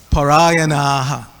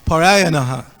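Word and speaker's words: परायणाः: When that last vowel is long, it's not yanaha, it's yanaha. You have to pronounce that last long vowel. Okay? So it's parayanaha.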